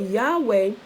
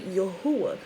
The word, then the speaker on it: Yahweh: yahweh forever i said but yahweh is a mistransliteration and a mispronunciation of the actual name which is actually yahuwah so he says that